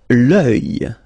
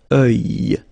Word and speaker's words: œil: L'œil. L'œil. Strange combination of vowels here, okay? And then you will get the sound E and then Y. Œil. Alright? And it's masculine, by the way. Un œil. L'œil.